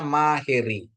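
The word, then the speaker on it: μαχαίρι: Kalau Alfa ketemu Yota, dia bacanya E, ya Bapak Ibu ya.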